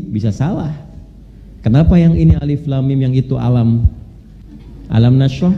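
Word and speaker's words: الم: benar Tahu dari mana bacanya Alif Lam Mim bukan alam karena dengar kan nah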